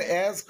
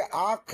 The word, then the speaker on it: ask: beside her son and asked him. সে তার ছেলের পাশে খাটের উপরে বসলো, বিছানায় বসলো, and asked him, ask, ask, ask, not asked। অনেকে আখ বলো, আখ, উচ্চারণ কি হবে? ask বলো, ask।